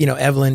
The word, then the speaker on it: Evelyn: Normally, you might think, Evelyn is the pronunciation of the name, but Evelyn with Eve on the accent on the Eve has a, I think